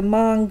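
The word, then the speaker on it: Hmong: them and these are the mang people and that is spelled h m o n g and they're all here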